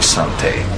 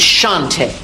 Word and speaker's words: Sante: have quite a history Sante if you can put me under arrest you can pronounce my name correctly it's Shante it's prettier that one